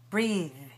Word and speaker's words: breath: Notice that this word is spelled with an E, a silent E at the end of it, and it's a verb. If we take the E away, it becomes a noun. And we change the pronunciation in two ways. The E vowel changes to eh, and the voiceless, changes to th.